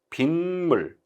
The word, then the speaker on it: 빗물: 뒷말의 첫 소리가 니은 미음, 물 할 때 미음. 니은 소리가 덧난다. 빗물. 그러니까 비 더하기 물이잖아요. 근데 실제 발음은 어떻게 되는 거예요? 빗물 이렇게 되잖아요.